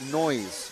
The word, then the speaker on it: Noyes: Noyes is pronounced noise.